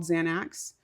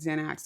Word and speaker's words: Xanax: It's like not axe.